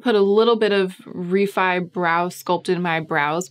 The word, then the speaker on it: Refy: r-e-f-y immediately it registers in the brain as reffy and it's taken it's been like a training an intensive training regimen to get myself to start saying refi which is apparently how it's pronounced so i'm